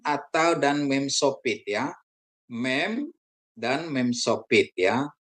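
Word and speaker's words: מ: Mem ya. Konsonan Ibrani mem atau dan mem sopit ya. Mem dan mem sopit ya. Mem dibunyikan seperti M dalam kata makan atau transliterasinya M.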